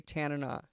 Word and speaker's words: Tanana: We're going to play Tanana. And I'll I'll teach you how to pronounce it, too. It's Tana. Tanana. Like Bana. Portugal. Like banana.